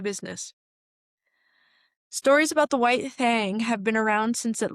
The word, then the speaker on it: Thang: And yes, that is Thang because regional pronunciation is important. And that honestly makes it like probably 10% more alarming because Thang, God, it sounds so stupid. Thang rhymes with fang, okay?